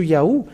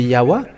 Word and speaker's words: Yahweh: But they changed it to Yahoo. So those who call Yahoo, where is that A? Because it should be Yahweh.